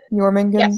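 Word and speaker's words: Jörmungandr: I bet the J is supposed to be like pronounced like a Y. Jormungand.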